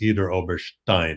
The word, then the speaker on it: Idar-Oberstein: And by the way, you do hear the way I pronounced it. It's Idar-Oberstein. It's not Oberstein. That's an American corruption of a German German name.